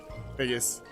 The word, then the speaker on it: Figgis: Figgis. Or... Oh, that's Figgis. That's not Figs. That's Figgis, like Cyril. And then there was Doctor, as in Dr.